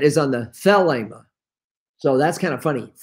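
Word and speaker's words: θέλημα: greek word for will is well we always pronounce that because it's a long e the ema but the accent is on the thelema so that's kind of funny felima when thelema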